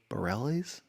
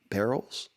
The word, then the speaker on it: Bareilles: thought i saw it how do you say her last name sarah barely's barrels saying that as well so um yeah